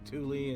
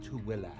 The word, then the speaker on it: Tooele: So only if you're local can you pronounce it properly. Most people call it like Tooele and so many other things, but it's kind of funny. It's pronounced Tooele.